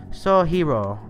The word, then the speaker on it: Sojiro: Jean says, as for Sojiro, that's pronounced Sojiro. R's are a mite weird in Japanese. You make the sound by flicking the tip of your tongue off the point when your teeth meet the roof of your mouth.